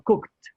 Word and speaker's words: cooked: No decimos cooked, sino cooked. Como si fuera una T al final. Se aumenta ED, pero la pronunciación es distinta.